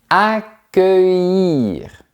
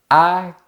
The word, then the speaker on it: accueillir: Accueillir. Ouvert, fermé, ouvert. Accueillir.